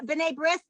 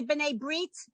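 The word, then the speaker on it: B'nai B'rith: called bene brief br bene brith which is really bene breit it's the same word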